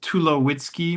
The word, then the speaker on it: Tulowitzky: Well, uh my name is Tulowitzky, my my surname. Sometimes people mispronounce it. And so I have a little pneummonic I like to share that if you take away my wits, I'd be too low-key.